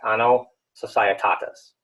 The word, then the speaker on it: Anno Societatis: And that's how you pronounce that, Anno Societatis, okay?